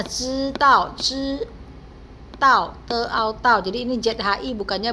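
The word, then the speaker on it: 知道: 要你知道你最美, 来知道, ini bacanya 知道 jadi ini ZHI bukannya bacanya ZHI ya, tapi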